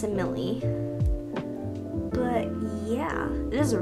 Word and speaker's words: Emily: You know her, Emily. I think I'm pronouncing her name right now because before I was always pronouncing her name wrong. I was pronouncing it Emil, but I'm pretty sure it's Emily.